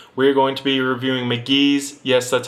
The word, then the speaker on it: Mk.gee: But, um, as you can see, today we're going to be reviewing McGee.